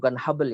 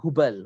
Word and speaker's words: Hubal: Jadi diundi bukan Habal ya, tapi Hubal.